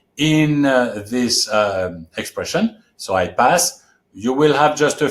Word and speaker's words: pas: And before that syllable is the word pas, which if you don't know, you would pronounce pass. But we have eliminated the S. So what is left is a vowel sound. Pa. The mouth stays open.